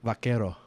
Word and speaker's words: vaquero: How do you say it? Vakero. Vakero.